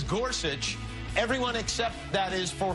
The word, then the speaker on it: Gorsuch: guess he's right then it sounds just like it's spelled if you look at it on the paper yes s uch but then you hear some people say Gorsuch of course just call